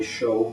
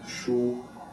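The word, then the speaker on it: 熟: Some people will say shou, but I guess the more Mandarin pronunciation is shu.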